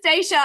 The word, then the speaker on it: Stacia: I was about to say chatting with Coach stasa but that's your name you're not a coach are you are you gonna be a coach no no not right now no this is stasa I think I was wanting to think about